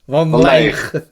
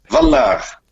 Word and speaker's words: Van Laer: Van Leer. Ah ouais, voilà. Et avec l'accent, ça fait Van Laar.